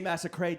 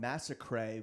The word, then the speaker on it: Massacret: because we realized that your name is spelled a la Chalamet. A la Chalamet. E-T-A. Or sorry, pronounced a la Chalamet. Pronounced So a la you're Chalamet. French. Yeah. So I'm French.